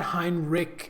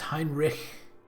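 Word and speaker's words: Heinrich: Maybe they pronounced it like that in the game, but that's wrong. It's not Hinrich, it's Hinrich. There's a little bit of at the end.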